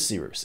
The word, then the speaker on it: Cyrus: My name is Seeroos. It's spelled like Cyrus, pronounced like Seerooster. Just take out the tur.